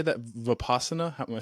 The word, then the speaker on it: Vipassana: Vipassana? Am I saying that correctly? Vipassana meditation, yes.